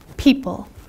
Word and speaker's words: people: so because of that the only really tricky letter that you have to remember is the letter o when you sound it